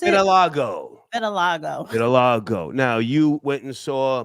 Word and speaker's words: vitiligo: Does Beyoncé have, how you pronounce it? Vitiligo.